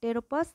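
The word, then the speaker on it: Pteropus: এটা হচ্ছে কাঠবিড়ালি ট্যাটাস স্ট্যাটাস এটা ইদুর আর টেরোপাস জাইগ্যেন্টিয়াস এখান থেকে পিটা কিন্তু সাইলেন্ট থাকে টি থেকে উচ্চারণ হয় এজন্য এইটা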